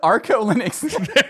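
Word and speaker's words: ArcoLinux: Arco Linux.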